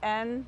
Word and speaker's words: Anne: in English you can say Anne, but in German it's Anne.